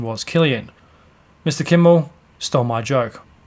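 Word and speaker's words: Cillian: have I I always thought his name was Chilean and then I've heard other people refer to him as selian or Killian but the correct pronunciation was Killian Mr Kimmel stole my joke it's written simply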